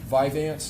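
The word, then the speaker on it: Vyvanse: Um, Viveance, is that how you pronounce it?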